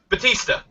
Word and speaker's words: Batista: Batista. Batista, like, Drax, the Destroyer there.